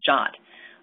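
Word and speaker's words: JWT: a new piece called Json web tokens pronounced jot um it can even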